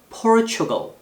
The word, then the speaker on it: Portugal: 다음 Portugal. 액센트 이름절입니다.